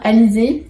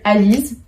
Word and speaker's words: Alizé: Au lieu de dire Alizé, ils le disent, soit ils m'appellent Alice, soit ils m'appellent Alizy. Mais c'est vrai que je m'y attendais pas en fait à ce qu'ils n'arrivent pas à prononcer mon prénom. Mais c'est parce qu'il y a le son E et ils l'ont pas en anglais.